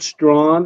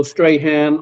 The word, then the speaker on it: Strachan: your last name is Strachan, right? We pronounce it Strawn, is a Scottish name, and Ah, it could go Strahan or Strawn, okay. like drawn.